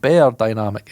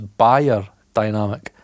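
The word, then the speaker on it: beyerdynamic: It's not bear dynamic. It's buyer dynamic. And did you know that? I never knew that. You're meant to call it buyer dynamic, but I'm Scottish, so subliminal messaging.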